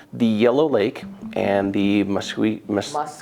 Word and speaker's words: Muskellunge: But the Yellow Lake and the Muskellunge is how you say it.